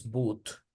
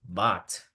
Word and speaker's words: but: como la palabra but, no es boot, es but, right?